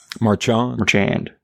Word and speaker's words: Marchand: There's a Merchant or Marchard? Marchand. Marchand. I like that. We got 3 pronunciations.